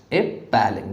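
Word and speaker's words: appalling: अपैलिंग, यहाँ पे double P है तो पी के ऊपर स्ट्रेस ज़्यादा लगेगा, डबल पी है, अपैल, APPALLANG, ठीक है।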